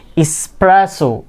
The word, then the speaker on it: espresso: থাকে escape এখানে কি এখানেও কি x নেই কি আছে s espresso ফেব্রুয়ারি অনেকে কি বলে